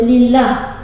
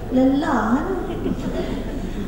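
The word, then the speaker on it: لله: ha tu orang kata lillah lam lam ha ya tak ejaannya tapi letak sabdu Jangan tak letak sabdu baru jadi lillah kalau tak ada sabdu jadi apa lamlam ha jadi apa lelah a termengah-mengah kerja sampai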